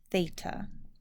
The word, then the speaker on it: theta: It's going to be a 0 with a line through it, and it'll be pronounced theta.